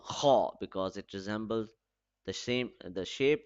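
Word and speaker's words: خ: So kha, aw. Both the sounds are rhyming. So it means that it has an aw sound at the end of this alphabet.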